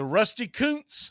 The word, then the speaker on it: Rusty Kuntz: So Rusty Kuntz, as it's pronounced, get your mind out of the gutter, even though we put it there.